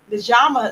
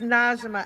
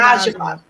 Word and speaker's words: Nijiama: So, let me bring in author Mjama Smalls. How are you on this afternoon? Hi. I'm so glad to be here. It's Najima actually pronouncing Najima.